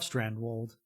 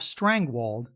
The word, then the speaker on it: Strandwold: westward plus part one i accidentally referred to brunologist olaf strandwold as olaf strangwald repeating an error i found